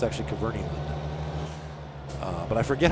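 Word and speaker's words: Kverneland: a Nutshell video, and they said that it's pronounced Cavernyland. I've always said Cavernland, but it's actually Cavernyland.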